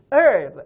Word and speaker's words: herb: herb라고도 말하는 분 계시는데 미국식 발음은 herb, h를 거의 발음하지 않습니다.